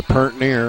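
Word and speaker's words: purt near: So there goes your pert near, or however you say that.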